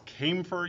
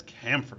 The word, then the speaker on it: camphor: You might hear it referred to as camfer. You might hear it referred to as camphor. Those are all four pronunciations which appear to be equally valid.